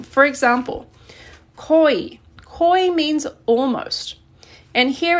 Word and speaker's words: 거의: as the possessive particle, it's pronounced e. So this is just e. If it's in the middle or end and not being used as the possessive form. For example, 거의.